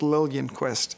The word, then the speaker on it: Liljenquist: It's pronounced Logan Quest.